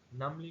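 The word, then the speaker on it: numbly: she struggle to her feet, उसने मुश्किल से कदम उठाए, and walk in टू the kitchen नमली, नमली में बी साइलेंट है, नमली का मतलब सेंसलेसली,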